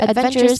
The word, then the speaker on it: adventurous: The word adventure adventurous places stress on ven which is the third syllable from the end.